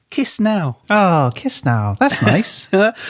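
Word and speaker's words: Chișinău: The capital city is spelt Chisinau, but it's pronounced Chisinau. So kiss now.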